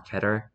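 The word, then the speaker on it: Keter: as cater effective immediately there are multiple ways to pronounce chatter you can say keto or ketter I'm gonna say ketter because it's easier and as you've probably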